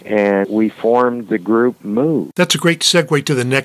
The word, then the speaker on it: Mu: is about the band Moo. And for all you garage rock heads out there, that is spelled M-U.